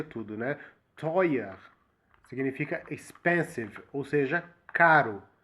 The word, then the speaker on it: teuer: Não parece que todo o E no final da frase tem um som de A também? Presta bastante atenção na forma que ele pronuncia. For example, teuer.